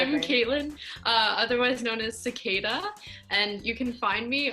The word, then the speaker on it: Cicaeda: cicada music so obviously the pronunciation of my name is a little weird so it's C I see a e da music I am